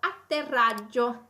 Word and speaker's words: atterrissage: on a atterrissage atterrissage nous avons trois doubles dans ce mot atterrissage nous avons double t nous avons double r on a des double g donc attention à bien les prononcer ok pour leur faire entendre ces doubles ok pour les prononcer tous et ce qu'est l'atterrissage